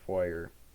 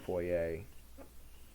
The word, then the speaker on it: foyer: into the foyer terminal i know it looks like foyer but foyer is wrong it's poi a i don't even pronounce it foyer it's french or some other language that ain't english i said ain't oh